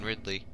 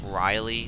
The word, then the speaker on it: Ridley: did a number on Ridley which by the way that's not how I pronounced its name when I was a kid I'd always call it Riley like my next door neighbor it's really weird I